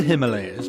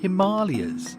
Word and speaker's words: Himalayas: heck is the Himalayas well you say the Himalayas but apparently locally it is pronounced Himalayas no way that is something I discovered and